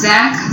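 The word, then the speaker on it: Tzanck: इसको कहते हैं हम ज़ैंक स्मीयर। टी साइलेंट होता है, ZANCK is the spelling, so ज़ैंक smear.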